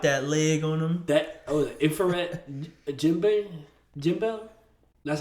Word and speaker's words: Ifrit Jambe: The infrared Jimbel. That's how you say it. Ifrit Jambe.